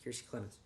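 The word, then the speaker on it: Kiersey Clemons: Yes, Kiersey Clemens.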